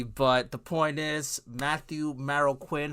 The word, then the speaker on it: Marroquín: way past already but the point is Matthew Maro Quinn how are you am I pronouncing your last name correctly it's maroin for the last name Matthew mokin M okay